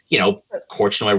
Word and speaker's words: Korchnoi: And Korchnoi rhymes with, I don't know. I mean, it could have been, Portnoy.